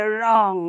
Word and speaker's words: wrong: only say sort so the w remains silent again and see here wrong also sometimes we say wrong right the blue we sometimes we then do say along with the blue right but it is wrong okay the blue will remain silent and it will be said as wrong all right so the